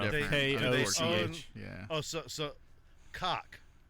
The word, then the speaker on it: Koch: Oh, so cock. Well, they will actually pay you to pronounce it Coke.